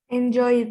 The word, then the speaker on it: enjoyed: How are you going to pronounce enjoy in the past? Enjoyed.